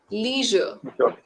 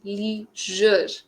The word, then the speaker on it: leisure: okay okay okay the spelling is same the pronunciation creates a difference no worries now can you say the wording yes these are Leisure can you say Leisure leure leure z sound leisure Leisure Leisure yes you got it the next